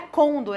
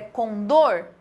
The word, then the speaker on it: condor: Por exemplo, aqui não é côndor, é condor. Ela é uma oxítona.